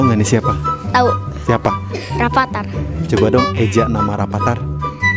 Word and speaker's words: Rafathar: Rapatar. Coba dong eja kata Rapatar. Oke. F A T A R udah iya. Dibacanya Rafathar.